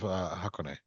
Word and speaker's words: Hakone: I've heard of everywhere else, but I've never heard of Hakone. okay. You can correct me in all my wrong No.